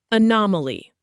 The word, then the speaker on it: anomaly: Anomaly, pronounced a-nom-a-ly.